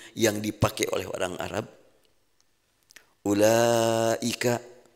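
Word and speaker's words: أولئك: Ulaika, tulisannya ulaika, betul ya? Tulisannya kan begitu. Ada waw, laika, lanya nggak ada alifnya. Tapi bacanya dibalik.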